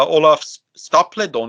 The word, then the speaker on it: Olaf Stapledon: Yeah, Olaf Stapledon, is that how you say his name?